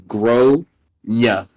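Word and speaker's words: Gráinne: Generally, it says like grainy, like Grainne, but the A has an accent, and she says it's generally pronounced as Gronya. Gronya.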